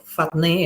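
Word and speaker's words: φάτνη: g5336 ya ini sama ne akar kata atau fatne ya bacanya nah ini eh bicara tentang Stol ya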